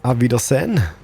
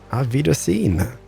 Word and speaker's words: Auf Wiedersehen: Auf Wiedersehen. Auf Wiedersehen.